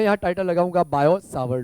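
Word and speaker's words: Biot–Savart: मैं यहां टाइटल लगाऊंगा बायो स्वर लो ओके यहां पर साइलेंट राहत है जब हम प्रोनाउंस करते हैं उसको तो ठीक है सा रहेगा साइलेंट बायो स्वर लो राइट अब बायो और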